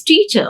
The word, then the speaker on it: teacher: uh teacher here or in this teacher r is silent r is silent anchor